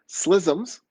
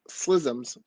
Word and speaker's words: Ksi Lisims: almost said that wrong, Slissims. It's spelled KSI space LISIMS. We pronounce it Slissims.